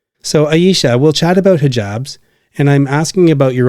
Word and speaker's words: hijab: I don't know much about the Muslim faith, including why many Muslim women wear hijabs.